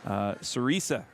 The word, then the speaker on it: Sarisa: We didn't get the correct pronunciation for Grinnell's coach. Sarisa is the correct way there.